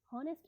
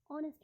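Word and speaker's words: honest: एन ऑनेस्ट मैन, हॉनेस्ट नहीं पढ़ना है, ऑनेस्ट मैन पढ़ना है। ऑनेस्ट में एच होते हुए, कॉन्सोनेंट होते हुए भी हिंदी में उच्चारण करने पे वहाँ पे एक स्वर है, दैट्स व्हाई हमने वहाँ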